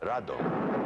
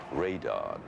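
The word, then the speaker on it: ラドン: in Japan was called Rado you know it's the Japanese pronunciation of radon Rado and when that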